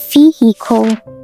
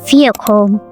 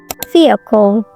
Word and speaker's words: vehicle: In American English, it is vehicle, vehicle. But the middle is very quick and weak. But on the other hand, in British English, it is vehicle, vehicle. Or even shorter, vehicle, vehicle. The H usually disappears and the middle syllable is almost silent.